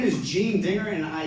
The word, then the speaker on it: Gene Dinger: BAP to overcome right yeah my name is Jean digger and I say that because I would prefer